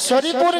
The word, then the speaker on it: শ্রী: আরে মাসি ওনার নাম ছিড়ি ছিড়ি নয় বলো শ্রী শ্রী শ্রী শ্রী সিরি সিঁড়ি সিরি সিঁড়ি সিঁড়ি